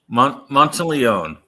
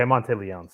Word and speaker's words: Monteleone: Monteleone? Monteleone. Okay, Monteleone. So yeah, careful. That can kill someone if you mispronounce their name.